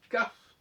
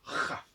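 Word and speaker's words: כ: Eh bien, elle se prononce quand il y a ce qu'on appelle un point à l'intérieur, c'est-à-dire le dagesh, elle va se prononcer kaf, et s'il n'y a pas de point, elle va se prononcer chaf, chaf, comme ça.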